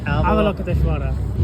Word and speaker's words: Avalokiteshvara: Avalokiteshvara.